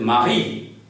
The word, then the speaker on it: mari: would make it silent, but it is a vowel and the last vowel is pronounced. So I gives E sound in French, and in Hindi E is a matra like this. So you read it as Marie, or you may read it as Marie, or you may read it as Marie. So it is your choice, Marie, Marie, or Marie, which means husband.